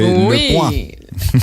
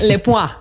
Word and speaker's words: Le Point: Usted que es el que habla francés aquí, Le Point, ¿se pronunciaría? Muy bien, sí, Le Point. Le Point.